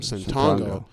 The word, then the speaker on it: Ssetongo: The only reason why it was like Santongo straight from the Congo is because my last name, Santongo, rhymes with Congo.